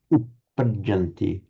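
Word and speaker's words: uppajjanti: We've got a double p and a double j. So can you say, even exaggerating the doubled nature of those consonants, uppajanti?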